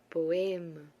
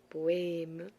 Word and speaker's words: poème: Entonces tenemos ejemplos con esta E que es crème, poème, poème, crème. Hay que abrir la boca para que la pronunciación sea diferente y se diferencie cuando se utilice el acento grave y el acento agudo.